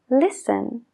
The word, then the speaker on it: listen: nada Como por ejemplo la t en Listen no la oímos Listen la W en answer answer la l en should should lo mismo con could